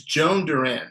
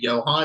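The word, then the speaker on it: Jhoan Duran: have um is it Jo I always because it's spelled it's Joan Durant right?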